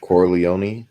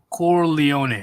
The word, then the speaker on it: Corleone: forgot to say his name corleone i watched that movie recently too core leone okay corleone vito said women and children can't be careless